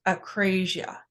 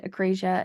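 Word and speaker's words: akrasia: And I believe it is pronounced acrasia.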